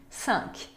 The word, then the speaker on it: cinq: E tem também cinq. Significa cinco. Cinq. Se pronuncia o quê?